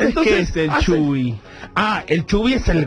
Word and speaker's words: Chubby: Que se llene de Chubby. Que se llene de Chubby. ¿Vos sabés que es la primera vez que escucho Chubby? Chubby. Ah, pero Chubby. Chubby, pero se escribe Chubby, C-H-U-B. Como Chubaca. Eso.